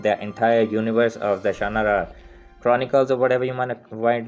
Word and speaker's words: Shannara: And finally, my latest pick, Terry Brooks' First King of Shannara. Now that's how I pronounce Shannara because it's Shannara, but if I'm wrong, you can correct me in the comments down below.